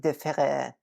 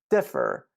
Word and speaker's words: differ: the French spelling of it's not pronounced différer. It's differ, but the E here is extra.